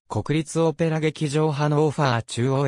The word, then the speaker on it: Hannover: た街である日本語ではドイツ語における一般的な発音に近いハノーファーまたはハノーファのほかハノーバーハノーバーと表記されることもある来年川沿いに位置